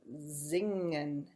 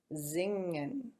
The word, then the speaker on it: singen: to sing, so it has an S at the beginning, which becomes a Z, and it has an NG that sounds just like we were saying singing, singing, but never finger, never the G, hard G. So it sings, so it's singing, and the verb form becomes zingen, zingen, which we've probably sung a few times too.